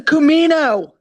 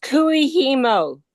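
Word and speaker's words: kumihimo: It's a Kumino. Well, it's technically Kumino. Japanese is Kumino. No, it's Kuihimo. Yes.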